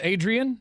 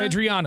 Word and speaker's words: Adriana: Mato yes who played uh Adrien or Adriana Adriana is how you say yeah she played